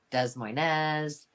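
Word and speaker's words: Des Moines: from De Mo from De Moine a lot of people in Iowa say do um does Moz they say and a lot of people just don't know how to say it so you know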